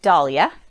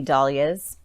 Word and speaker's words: dahlia: Dahlia, dahlia. I've heard it said both ways.